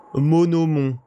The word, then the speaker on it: Monomon: Extrait de l'élégie d'Holonest par l'érudite Monomon. C'est comme ça qu'on prononce, hein.